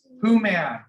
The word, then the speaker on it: Woman: my last name's my first name is who man but it's spelled Old English woman right so I had